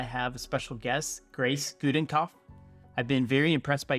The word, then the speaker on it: Gudenkauf: Yeah, my name's Grace Gudenkauf. I'm impressed you pronounced it right.